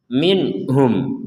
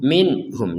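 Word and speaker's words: مِنْهُمْ: juga tertulis sama-sama Apa sama-sama dibaca dengan jelas minhum minhum nah seperti itu di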